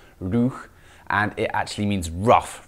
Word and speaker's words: Roeg: it's pronounced rouh and it actually means rough rather than rogue